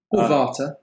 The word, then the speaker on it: Vater: asks the ampulla of Vater water but if you want yeah I like to pronounce it water okay goofily white where